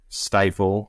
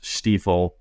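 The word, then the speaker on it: Steiff: both of them had big stifle or the way it's pronounced steifle uh patches on it including some star pattern stuff.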